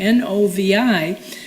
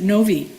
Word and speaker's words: Novi: But in Europe and everything, that's how they pronounce it, Novi. It's a short I.